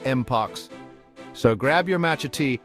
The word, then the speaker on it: mpox: down for you and yes you heard that right it's pronounced moox so grab your match